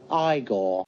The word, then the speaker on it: Igor: You must be Eigor. No, it's pronounced Igore.